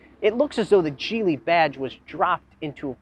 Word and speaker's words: Geely: one offered by chinese manufacturer gili yes it's pronounced jeely not gili jili has been making waves in the automotive world